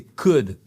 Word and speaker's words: could: Et attention, c'est pas cool you please. Non, non, non. C'est could on ne prononce pas le L.